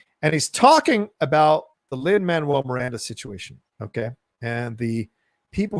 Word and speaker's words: Lin-Manuel Miranda: diatribe that he's about to go to it's lin-manuel miranda it's not that difficult it's not that hard